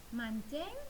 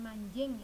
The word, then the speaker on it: mancing: Mancing, n bertemu dengan c, berubah menjadi nyo juga ya. Jadi di sini bacanya bukan manjing ya, tapi mancing.